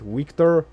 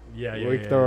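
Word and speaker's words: Wiktor: based on the situation no no it's always a v it's always a v so you don't use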